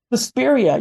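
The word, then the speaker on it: Suspiria: me so well let me ask you um sespa am I saying it right susperia yes I actually okay so like you you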